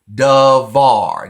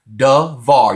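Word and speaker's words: דבר: of that bets so in Sephardic we would pronounce that as a V we have duh var devar you have to promise in that vowels in that word devar forward or thing then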